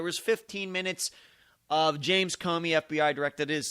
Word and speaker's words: Comey: 15 minutes of James Comey FBI directed his c ome why that is how you pronounce his name there's still a lot